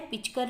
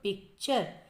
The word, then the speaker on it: पिक्चर: पिचकर दिया है, पिचकर नहीं होता है, आधा क, पिक्चर। शरात दिया है, स्पेलिंग क्या ठीक है?